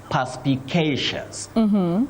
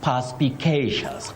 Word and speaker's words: perspicacious: Willis, take us through how to pronounce that word. We simply try to test our tongues. Now, you say perspicacious. Perspicacious.